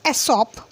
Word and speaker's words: Aesop: Aesop, pronounced Aesop, was a famous storyteller.